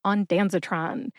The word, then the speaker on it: ondansetron: of American pop culture put those syllables together and you get on denron emphasize Dan see if you can hear